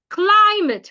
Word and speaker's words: climate: If the word is a preposition, you should stress the second syllable. Please say after me. Climate.